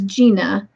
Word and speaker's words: Jania: Okay, so you pronounce my name as Gina, is what I meant earlier.